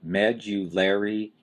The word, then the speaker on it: medullary: next term is the medullary cavity again that is a hard one to say med you larry cavity you've got a strong stress on the first syllable med and